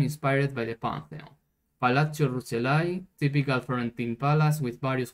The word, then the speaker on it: Rucellai: Actually, is this pronounced like this when it is only one C? Let's check the translator. Palazzo Rucellai. Okay, I'm pronouncing correctly.